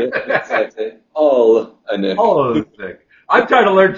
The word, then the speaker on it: Olenick: Yeah, Olenek. Olnick. Oh, got to put another little vowel in there. Yeah, exactly. Olenek.